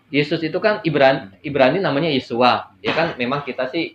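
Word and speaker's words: ישוע: awalnya bahasa mula-mulanya kan nama Yesus itu yesua ya Ada tulisan ibraninya dibacanya yesua Nah jadi ada ada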